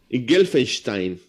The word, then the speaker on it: Gelfenstein: Qué raro que le cueste pronunciarlo, Sergio. Eso. Gelfenstein. Muy bien. Está bien pronunciado. Está muy bien pronunciado.